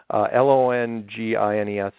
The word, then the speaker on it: Longines: But there was a television show called The Longines, I pronounce it right this time, Longines, Chronoscope, in 1954.